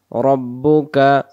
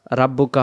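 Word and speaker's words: رَبُّكَ: আলাম তারকাইফাফালা আলাম তারকাইফাফালা রব্বুকা রব্বুকা রব্বুকা রব্বুকা রাব্বুকা হবে না রব্বুকা আলাম তারকাইফাফালা রব্বুকা বিসহা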